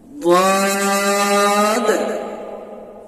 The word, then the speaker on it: ضاد: বাইর হবে কেমন ভাবে, এই যে জিভের একটা সাইড উপরের মাড়ির সাথে লাগান, ضاد ضاد طا طا طا,